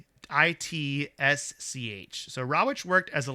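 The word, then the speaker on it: Rawitsch: a man named Don, I think it's pronounced Rawich. Does that sound right to you? Right, Rawich? yeah. Rawich? Yeah. Rawich? So it's Rawich? RAWITCH.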